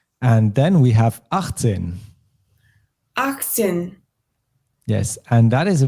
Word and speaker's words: achtzehn: achtzehn, Yes, and that is a bit of a sneaky one because we do write the letter T here of acht, but we don't pronounce it usually.